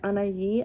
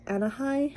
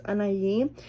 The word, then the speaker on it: Anaí: For those of you guys don't know, my name is Anaí, and the way you say my name is Anaí. I get a lot of Anahai, but it's Anaí.